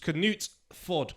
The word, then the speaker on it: Knutsford: It's actually, the way that it's spelt doesn't reflect the way it's supposed to be said. It's supposed to be Knutsford, which Knut-Ford, so it's Knut Fort.